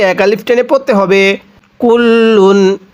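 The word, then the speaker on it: كُلٌّ: এরপরে কাফ লাম পেশ কুল লাম দুই পেশ লুন কুল্লুন।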